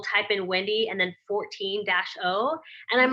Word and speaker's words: Fortino: But it is pronounced 14-0. It is pronounced that way, but it's actually, you know, it's formed with.